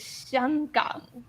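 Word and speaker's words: 香港: in Hong Kong in Mandarin is Xianggang. totally Xiangang. different. That's so Yeah, different. it of means how everyone aromatic.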